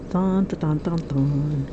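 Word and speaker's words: Thanh: Thon. T-H-A-N-H. The H is silent. Or the T is silent.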